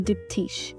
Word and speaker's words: Diptyque: knowledge they recognized that the facade was a dipti which in French it's spelled dipti so the shop looked like a